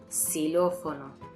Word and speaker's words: Xilófono: Aunque al principio de palabra se pronuncia /s/. "Xilófono".